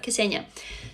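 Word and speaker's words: Ksenia: oh pronounce my name so it's k and s together kessenia so depression is your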